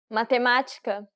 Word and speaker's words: Matemática: Accents are good indications of stress. Since this has the acute accent, it indicates that the syllable should be stressed and that it requires an open pronunciation. Matemática.